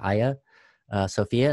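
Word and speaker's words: Hagia Sophia: church of aya sophia i know the spelling looks weird but you pronounce it aya sophia and it's in istanbul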